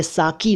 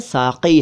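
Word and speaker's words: साक़ी: दरअसल ये साकी नहीं है, साकी है, यानी कि क के नीचे हिंदी में नुक्ता है, उर्दू में काफ है, काफ नहीं, और अंग्रेज़ी में क्यू लिखना चाहिए, लेकिन चल रहा है साकी।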